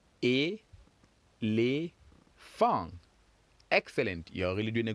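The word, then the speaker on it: éléphant: Just like in English, we have elephant, 3. In French, we still have 3. Let's count together. E, les, fang.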